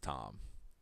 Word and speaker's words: Thom: So it's kind of like Thom Yorke. That's pronounced Tom.